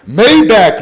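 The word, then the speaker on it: Maybach: Mayback money.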